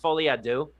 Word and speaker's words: Folie à Deux: French makes Americans nervous, but it's pronounced Folie à Deux. And Folie à Deux in French translates in English to Madness for Two.